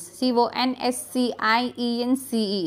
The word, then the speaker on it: conscience: C-O-N-S-C-I-E-N-C-E. Iska pronunciation conscience hai.